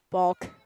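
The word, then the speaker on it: Balke: Balk. Sounds like you're saying balk, like every time.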